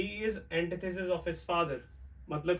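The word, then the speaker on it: antithesis: The next one इज, क्या पढ़ने वाले हैं इसको, जो इसका राइट प्रोनाउंसिएशन है वो है एंटीथेसिस।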